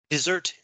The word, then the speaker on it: dessert: fits what they deserve dessert in this sense is the noun of deserve right dessert it's spelled the same way as desert samo but the emphasis is is different so the ending of